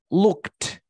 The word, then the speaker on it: looked: Imagínate que este look yo lo pronuncio con, en lugar de T, lo pronuncio con D, para ver la diferencia, ¿vale? Escúchame. Looked, looked, looked. Ese es con T. Looked, looked, looked. Ese es con De. D. ¿Te das cuenta que con D como que me freno, no? Looked. Con T, looked. Boto aire.